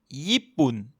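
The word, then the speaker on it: ญี่ปุ่น: mais la consonne de droite, yoying, elle se prononce N à la fin des mots. Médicament se dit ya. Japon se dit yippun.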